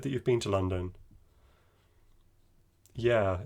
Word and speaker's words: London: be pronounced london so the second o imagine that it's not there imagine that it's being